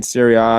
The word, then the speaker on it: Syria: the chat is saying the a in syria is pronoun isn't pronounced as the letter but the ah i understand i i